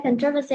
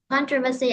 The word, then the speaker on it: controversy: controversy controversy controversy okay controversy also right two ways controversy and controversy move to a new